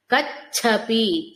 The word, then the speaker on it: కచ్ఛపి: భర్త్ అనుకోండి భర్త్ సిత కచ్ఛపి ఛ మహాప్రాణ చకారం నిజ సల్లాప మాధుర్య వినిర్భ